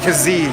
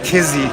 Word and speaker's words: Kizzee: you're doing a disservice it sounds like the pronunciation is dijon kizzy you can see